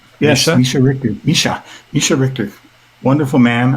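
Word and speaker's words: Mischa Richter: Am I pronouncing that right? Misha Richtor Misha Richtor.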